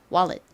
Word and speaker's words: wallet: 한국식으로는 원렛이라고 하는데 실제 원어 발음으로는이 끝부분이 let보다는 가깝게 발음이 됩니다. wallet wallet 이렇게요.